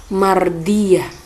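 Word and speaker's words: مرضية: berada di akhir ayat karena ini adalah tak marbuto maka membacanya menjadi huruf h huruf tanya huruf bunyinya menjadi huruf H sehingga dibaca Mardiyah kenapa Mardiah kan bacaan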